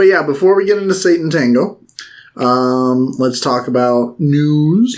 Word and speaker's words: Sátántangó: we uh jump into satan tango which i think that's how you pronounce it because it's supposed to they specifically say it's satan's tango like that's the i'm like oh okay satan tango and i was like